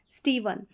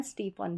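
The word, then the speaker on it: Stephen: पढ़ेंगे हैव हो गया पीएच को भी व पढ़ेंगे जैसे यह है स्टीवन अब यहां पर इसको स्टीवन भी पढ़ते हैं पीएच को फ भी पढ़ सकते हैं स्टीफन भी प्रोनाउंस कर सकते हैं दोनों तरीके से नंबर 17 का साउंड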